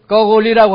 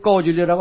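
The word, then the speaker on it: 高句丽: 그걸 꼬골리라고 하지 꼬줄리라고 안 합니다.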